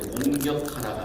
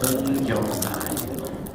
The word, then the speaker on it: 공경하라: 발음을 잘해야돼요. 공격하라가 아니라 공경하라. 다시 한번 내 부모를 공경하라.